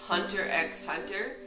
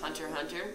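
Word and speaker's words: Hunter × Hunter: Number 3 is Hunter x Hunter. I think it's actually pronounced Hunter Hunter, or so I've heard.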